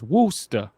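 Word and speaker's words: Worcester: uh north of uh Worchester okay I'm gonna it's funny because that's how I would say it but down there it's woosta uh there's so many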